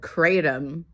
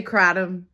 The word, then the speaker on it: kratom: That is not how you pronounce that word. That sounds so American and ignorant. Just say kratom, please. In Malaysian languages, they don't have long A sounds. It's an ah sound, like what, cat, lot, with an H.